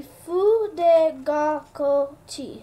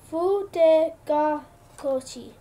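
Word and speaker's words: Fudegokochi: Pronounced to be Fu de Gaco Chi. So it's that's how you say it. Fu de Gaco Chi.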